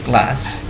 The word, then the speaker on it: class: Nah, kita sama-sama tahu, sudah sama lihat ini ada simbol huruf A titik 2 terus S. Kalau kita ingat, ini adalah salah satu dari contoh pronunciation vowel. Simbolnya vowel, huruf hidup A titik 2 pada panjang, class. Bukan class, bukan class, tapi class.